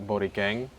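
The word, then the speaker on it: Borikhen: You could find me at Borang. Misspelled though. It's B O R I K H E N. The H is silent.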